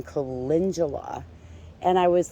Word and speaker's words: calendula: a native plant was i thought it was calendula and i remember the first time i heard someone saying calendula and i was like oh that's how you